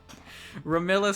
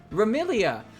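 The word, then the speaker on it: Remilia: Ramilla Scarlet. We're still fucking this name up. Are you seeing this? This is my favorite character, Ramilla Scarlet. Welcome to Team Scarlet Devil Mansion HQ, Cirno. Ramilia! Look, they say her name right there, but they fuck up the box? How? How do you mess that up?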